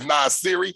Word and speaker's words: Nassiri: And when I say his name is Nassiri, it's like the hip-hop artist Nas. And just like y'all say Siri, so it's Nas Siri.